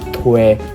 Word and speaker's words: Thuê: 那这个字的发音就是推。